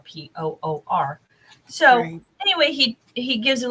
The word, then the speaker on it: Purim: And he did give a little information about Purim, and that's spelled Purim, but it's pronounced like Por, Poor.